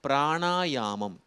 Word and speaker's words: பிராணாயாமம்: அதேபோல பிராணாயாமம் அதுதான் சரியான உச்சரிப்பு இந்த மாதிரி ஒரு புது வார்த்தையை நீ கற்றுக்கொள்வது தவறில்லை.